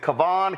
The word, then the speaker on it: Kyan: First off, is it Cavan Kyan? Pronounce it, please. Ky Kyan Foods. Kyen Foods.